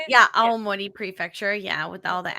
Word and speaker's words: Aomori: Yeah, Aomori Prefecture.